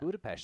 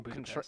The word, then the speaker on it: Budapest: But it's There's also no H so in Budapest. it's so dumb. Yeah. Yeah, yes, it is. That's how you pronounce it. There's no H in it. I don't care. I'm American. It's not Budapest.